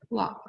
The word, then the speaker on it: walk: a map and then walk walk we walk to the library and you see from the picture girls are walking to the library and the word walk the l is silent all right so let's